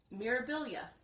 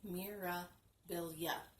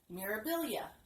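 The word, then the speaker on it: Mirabilia: hard time saying this it's because I've been making it for syllables instead of three it's supposed to be Mira bill yeah okay for I had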